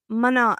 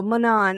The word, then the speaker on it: Manon: And hi, Mana. I saw Anya pronounce your name on Sunday at the live chat, and I was like, oh, I'm still saying it wrong. So, Manon, I'm so glad that you're